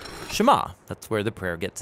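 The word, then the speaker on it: שמע: is hear or listen which in hebrew is pronounced shema that's where the prayer gets its name now shema is a really common word in the hebrew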